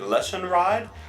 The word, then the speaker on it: Lesionread: me they'll be like so how do I pronounce your name is it lesson ride and I'll be like yeah yeah yeah you got